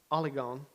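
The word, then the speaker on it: ὀλίγων: word that i think is important and it's pronounced oligon and it means few okay the niv picks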